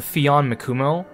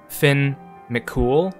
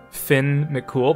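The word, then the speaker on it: Fionn mac Cumhaill: i keep calling him fian mikumo and it's actually it's actually closer to being pronounced as finn mccool which sounds like a fake name finn mccool but that's actually closer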